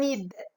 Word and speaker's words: nid: On dit pas nid. Je dis ni. Donc, la lettre muette, c'est D.